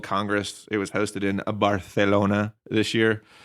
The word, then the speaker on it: Barcelona: It was hosted in Barcelona this year. Yes, I used the Spanish pronunciation.